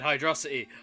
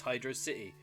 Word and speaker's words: Hydrocity: with hyde hydrous yeah ah you nearly said hydrocity i heard that everybody get everybody get him the correct pronunciation is hydrosity no it's not it's hydro city i will uh uh nerd glasses it's uh